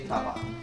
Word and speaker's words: papa: But actually, in my hometown, we say papa.